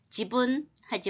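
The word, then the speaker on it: 自分: 제일 발음을 많이 합니다 그리고 박자가 글자 하나당 이게 지분 이렇게 지분하지 말고 지분 세 박자가 세 글자니까 세 박자가 돼 분이라고 해요 우리나라 건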